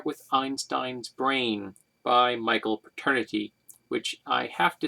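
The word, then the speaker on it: Paterniti: in my life though it is spelled p-a-t-e-r-n-i-t-i as opposed to the y at the end like the actual term paternity it still sounds the same um just very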